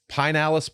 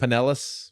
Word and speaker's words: Pinellas: Florida man learns hard way in Pinellas Park, Florida. Pinellas. Pinellas? Pinellas. Pinellas. It's spelled Pinellas. Pinellas. Yeah, but it's Pinellas.